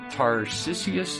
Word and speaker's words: Tarcisius: So, I didn't do a whole lot of research on saints this week, but I did want to talk about Saint Tarcisius, is it?